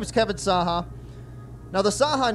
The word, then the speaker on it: Cahak: across this country because it's pronounced saha but it's spelled c-a-h-a-k right so it looks more